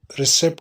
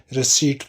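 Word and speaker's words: receipt: कहते हैं रसीद बुक इसको रिसेट नहीं पढ़ेंगे रिसीवड पढ़ेंगे पीस में साइलेंट होगा रिसीवड बुक नकल करने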